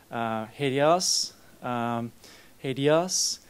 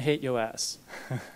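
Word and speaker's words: HATEOAS: very specific style which you can pronounce it however you like i've heard a few things hideous adios and hate us so choose choose your favorite pronunciation but the idea is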